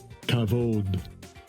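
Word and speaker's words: כָּבוֹד: Kavod.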